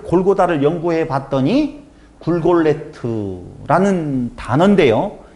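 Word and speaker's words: גולגולת: 그럼 골가타, 골골타에서 골고다가 히브리 말이 나오게 되어지는데 그 히브리어 골고다라고 하는 진짜 발음은 사전에 보면 굴골레트라는 단어예요.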